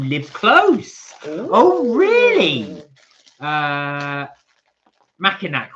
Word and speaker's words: Mackinac: I can't pronounce that. Mac-Ianic. Is it Mac-Inac? Massinac?